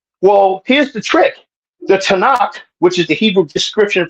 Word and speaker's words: Tanakh: So, Tanakh is how that's pronounced.